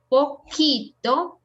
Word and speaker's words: poquito: have QUE and QUI, we say que or ki. Always. There's no exception. Que or ki. In this case, poquito, and here esquina.